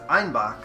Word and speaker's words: Einbeck: to their bavarian accent citizens of munich pronounced einbek as einbach a billy goat and